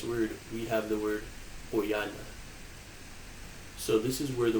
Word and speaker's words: quyana: So we say quyana, quyana.